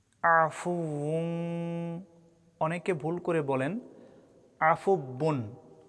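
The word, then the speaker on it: عَفُوٌّ: অক্ষরে ওয়াজিব গুন্না ইন্নাকা ইন্নাকা আল্লাহুম মা ইন্নাকা আফু আফু অনেকে ভুল করে বলেন আফুবুন ওয়াও অক্ষরের জায়গায় বা অক্ষরের উচ্চারণ করা যাবে না।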